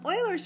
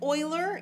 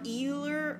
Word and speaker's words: Euler: yeah all right so these are nets um euler's formula is very interesting i suspect you've probably seen this before somewhere maybe not but you may have this is pronounced euler it is not euler okay or euler or anything like that it is euler euler's